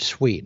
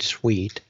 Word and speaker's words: Sweet: And so the inventor's name was Floyd Sweet. And all your listeners can look up Floyd Sweet on the internet. And his last name is spelled like what it sounds like, S-W-E-E-T.